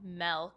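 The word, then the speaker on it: Melke: a highlight was the milk show it's spelled m-e-l-k-e but the reason it's called milk is it's actually like the word milk but she like growing up pronounced it milk so I just thought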